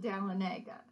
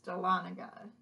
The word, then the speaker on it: Dahlonega: at north georgia college and i call it dalenega but it's dahlonega just there's a lot of indian cities around